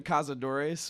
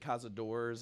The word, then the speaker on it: Cazadores: name how do you its Wiley hunter in the cazador ace but uh we'll take casa doors also you know pretty much anything that sounds similar and what does that